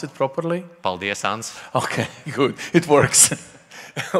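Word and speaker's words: paldies: now you will have to say in Latvian paldias because everyone were struggling do this can you pronounce it properly pal diasans okay good it works I love about this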